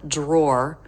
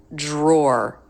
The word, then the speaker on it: drawer: sound so Dr drawer drawer it can be pronounced d Roar drawer but most Americans make it get a Jr sound drawer drawer so in IPA it would be written